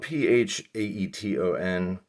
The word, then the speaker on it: Phaeton: phaeton phaeton phaeton well it's spelled p-h-a-e-t-o-n but you know i just say phaeton i hear people say phaeton it's almost sounds like photon uh but yeah it's